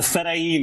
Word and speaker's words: Fedayeen: The Fedayeen, yeah, Colin.